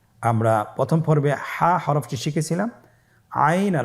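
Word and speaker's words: عين: আইন হরফটি উচ্চারণের সময় অবশ্যই তিন আলিফ টেনে পড়তে হবে।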